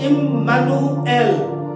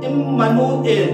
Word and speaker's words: Immanuel: So ultimately it comes like with us, God, with us, God, Im, with, Manu, us, L, God, Immanuel, Immanuel, that is the actual pronounce of Hebrew word, my dear friends.